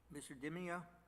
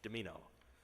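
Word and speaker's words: Dimino: thank you very much mr dimio did i pronounce that correctly close mr chief justice demino amino i'm sorry quite all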